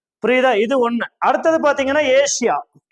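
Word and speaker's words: Asia: இது ஒன்னு அடுத்தது பார்த்தீங்கன்னா ஏசியா தமிழ்ல நீங்க பாட்டுக்கு ஆசியான்னு எழுதிருவோம் புரியுதா ஆமா ஆனா என்னது இங்கிலீஷ்ல என்னது ஏசியா இது எத்தனை சிலபில் ஏசியா ஏசியா ரெண்டு சிலபல் தான் ஆனா தமிழ்ல நம்ம ஆசியான்னு எழுதுவோம் அப்ப மூணுன்னு ஆயிடும் சோ இது வந்து விதிவிலக்கா நம்ம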